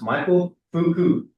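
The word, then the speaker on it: Foucault: His name is pronounced Michael Fuku.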